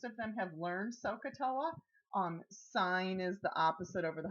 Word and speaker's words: sine: abbreviation for the word sine. It's really spelled S-I-N-E. This is an abbreviation for the word cosine, and it is spelled C-O-S-I-N-E. They want to call this sin. It is not sin.